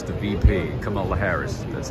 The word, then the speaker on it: Kamala Harris: even kidding it I wonder though if uh Camilla Harris the VP Kamala Harris that's how you say it right I wonder